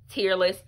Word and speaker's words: Tearless: It's gonna be Burt's Bees for Puppies Tearless. Apparently this is pronounced tearless, as in it's not tearing the strands of hair/fur or whatever.